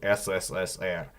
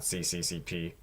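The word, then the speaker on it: СССР: It's always S. So remember that, like you see on the flags or whatever. SSSR. It's not CCCP, because then it wouldn't be Russian.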